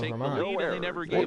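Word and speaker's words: Germán: Also used to say Domingo Herman. Lost goes to Eduardo Rodriguez Why can't I earns pronounce win his number name 7 on the German? season. No, it's not German.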